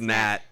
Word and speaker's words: gnat: like, compared to me, you are a gnat. Like the It's just G. like, it's a G, it's silent. It's pronounced nat.